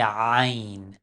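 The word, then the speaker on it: عین: Regardez, Ain. Dans la langue arabe, Ain se prononce de la profondeur de la gorge. En arabe, on dit Ain, Abdullah.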